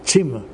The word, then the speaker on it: Zimmer: Uh it's the the Z in German is pronounced t you know timmer.